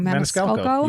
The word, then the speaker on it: Maniscalco: I always say his last name wrong. Maniscalco.